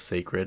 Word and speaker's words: Cecred: Beyoncé's haircare line, Sacred, which took me a while to realize that that's what it was spelling, was sacred, because it's spelled Cecred, but it's pronounced sacred.